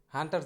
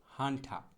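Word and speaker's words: hunter: হান্টার, হান্টার জানোয়ার। ওই যে ব্যাচেলার পয়েন্ট একটা নাটকের কার্যক্রম ছিল, যাই হোক। তো এই হান্টার কিন্তু উচ্চারণটা হবে না, সঠিক উচ্চারণটা হবে হচ্ছে হান্ঠা।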